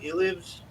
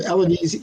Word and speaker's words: Elives: Elives. Elvis. Yes. Yeah, it's I get all kinds of Eloise, E-Lives. E-Lives is actually correct, and here's why.